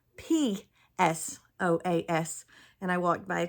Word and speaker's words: psoas: would hurt because it would be using the psoas muscle, and that is spelled P-S-O-A-S.